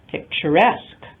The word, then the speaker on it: picturesque: So picture, if we add ESQUE, the stress falls on the suffix itself, picturesque.